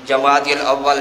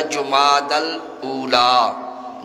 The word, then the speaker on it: جمادی الاولی: رواج ہے اس کو، پہلے تو یہ ہے کہ اس میں تلفظ ہی لوگوں کا درست نہیں ہوتا، جمادی الاول جمادی الثانی کہتے ہیں، حالانکہ صحیح تلفظ ہے جمادی الاولی، جمادی الاخری یا جمادی الاخرہ۔ تو یہ ثانی اس